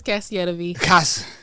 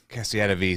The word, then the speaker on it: CASSIETTAVI: No, it's God, it's CASSIETTAVI. CASSIETTAVI.